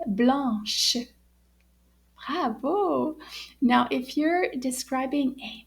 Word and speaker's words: blanche: end and it's pronounced blush so let's say the whole sentence together so did you hear the difference in the ending there it's got a sh H sound at the end let's try it one